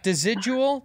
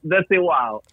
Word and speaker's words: Desigual: This is called Desidual. Desidual. Yeah. Oh, dude. Desigual. Oh wait, say it again. How do you say it in your language? Desigual.